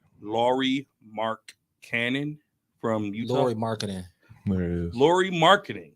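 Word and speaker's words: Lauri Markkanen: pronounce his last name. Who? Laurie Mark Cannon from Utah. Laurie Marketing.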